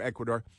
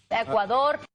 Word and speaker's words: Ecuador: My best girl and I, we've been on vacation to Ecuador. Ecuador. See, you have to pronounce it like that. Ecuador because it's more fun when you roll the Rs.